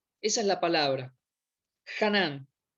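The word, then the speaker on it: חָנַן: gracia es una palabra en hebreo que se pronuncia así ganan esa es la palabra canán y quiere decir doblar o inclinarse en bondad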